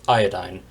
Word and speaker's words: iodine: The members of this group include fluorine, chlorine, bromine, and iodine, or as it's sometimes pronounced, iodine.